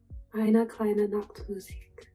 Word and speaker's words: Eine kleine Nachtmusik: Peyton, please pronounce it for me. Eine kleine Nachtmusik.